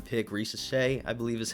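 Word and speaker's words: Risacher: You guys had your number 1 pick, Reese Shea, I believe is how you pronounce his last name. Yep, Reese Shea.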